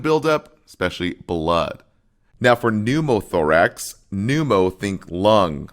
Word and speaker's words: pneumothorax: Hemothorax versus pneumothorax, which I call pneumothorax, but the P is silent there.